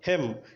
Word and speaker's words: hymn: ఓకేనా, next one హెమ్, HYMN. హెమ్ అంటే కీర్తన లేకపోతే గీతము అని అర్థం అనమాట. సో ఇక్కడ అన్ని సందర్భాల్లో మరి గమనించినట్టయితే ఎం తర్వాత ఎన్ ఉంది కానీ దాన్ని మనం ఏం చేయలేదు, ప్రొనౌన్స్ చేయలేదు.